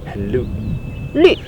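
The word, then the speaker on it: 绿: Yeah The scene right now Not polluted Very green "lü" (correcting pronunciation) Shan qing-- no Luscious hills and clear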